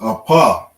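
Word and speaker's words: אף: got is nose nose the way we say nose in hebrew is apa and the paw is at the end of the word so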